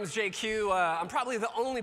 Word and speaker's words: Jay Kiew: Uh, I'm probably the only person you'll ever meet who can pronounce his full name in just two letters. It's JQ. Kind of like if Jay-Z and GQ had a baby and it was Asian, that would be me.